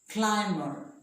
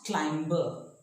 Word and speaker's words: climber: middle of the world after M the B is not pronounced we say climber not clamber climber plumber climber plumber remember occasionally so now